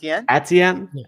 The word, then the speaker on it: Etienne: I can't pronounce his surname. Etienne.